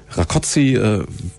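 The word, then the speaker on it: Rakoczy: wir als allererstes klären heißt es jetzt rakozi rakoi rakozi richtig ausgesprochen Betonung auf der ersten Silbe rakozi sagt aber kein Kissinger ne sagt kein Kissinger der Franke mag das so nicht da ist rakociifest aber rakoziifest wäre richtig okay haben wir das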